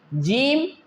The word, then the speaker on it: ج: The three, jeem, sheen, and ya, will pronounce from the same place.